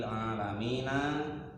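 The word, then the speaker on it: العالمين: Rabbil alamina, Tuhannya seluruh alam. Jangan sampai keliru bacanya ya, jangan a. Kalau alamin artinya sakit. Ain. Biasa. Pakai Ain. Pakai ain. Kalau pakai alif artinya tuh sakit.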